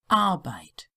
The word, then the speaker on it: Arbeit: And again, a tip for native English speakers, it's the I, the English I pronunciation. Arbeit, drei, Polizei, Bücherei.